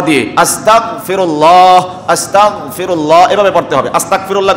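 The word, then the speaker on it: أستغفر الله: সন্নিবেশ করার ক্ষেত্রে যুক্ত করার ক্ষেত্রে শিয়ারের সাথে উচ্চারণ করতে হবে আস্তাগফিরুল্লাহ তারপরে গাইন বা বাংলাতে গ খ গ দিয়ে আস্তাগফিরুল্লাহ আস্তাগফিরুল্লাহ এভাবে পড়তে হবে আস্তাগফিরুল্লাহ করলে গুনাহ হবে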